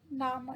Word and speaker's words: Name: Name. It's the spelling is same, but with the pronunciation we say it Name.